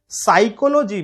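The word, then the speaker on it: psychology: जैसे साइकोलॉजी में P silent है ना.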